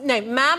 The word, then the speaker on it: ma'am: the problem is that Mom to rhyme with spam. No, ma'am as in spam.